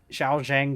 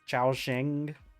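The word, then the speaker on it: Shaoxing: Xiao xang wine um I don't know I'm probably not pronouncing that properly but uh you know I think it's Chia Shing I think it's it's like s h a o x i n g I'm pretty sure is how it's spelled you get yourself some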